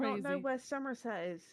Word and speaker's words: Somerset: Somerset. Somerset? No, emphasis on the Summer. Summer. Somerset.